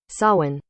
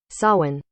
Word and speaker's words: Samhain: you know what let's find out how to pronounce silent shall we david now please watch closely we'll do a simple google search sawin sawin sawin the people in named they would have to